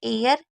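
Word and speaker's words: heir: एच शुरू होने वाले शब्द एच का उच्चारण नहीं होता। मतलब आपको मैं एक सिंपल तरीका बताती हूं। कुछ ऐसी वर्ड मीनिंग है जिसमें एच को नहीं पढ़ा जाता। अब वो कौन सी है? एक है एयर, ऑनेस्ट, ऑनर, आवर। तो ये चार ऐसी वर्ड मीनिंग है जिसमें एच को आपको नहीं पढ़ना है।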